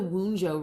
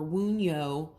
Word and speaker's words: Wunjo: Now, this is the Wunjo rune, or Wunyo, I think is the really right way to pronounce it.